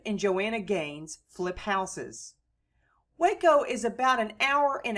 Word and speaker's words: Waco: Waco also lies on the Brazos River and was founded in 1841 on the site of the Waco, spelled in Spanish Hueco, and pronounced Waco, Indian village near a